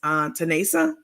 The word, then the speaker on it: Tanesa: I had a sit down with her mother the other day, and her mother told me the proper pronunciation of her name, which is Tanesa.